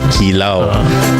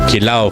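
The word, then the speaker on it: kilaw: the other one kilao or as pronounce it kilao or kilow for the tagalogs and kilo for the kapang pangans I digress but uh so and then also cooking with coconut as well.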